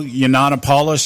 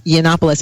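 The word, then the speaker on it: Yiannopoulos: lately in the media Milo yopos I think that's how you pronounce his name yes that's actually yannopoulos I know it's a tongue twister ganopoulos yeah yeah it's kind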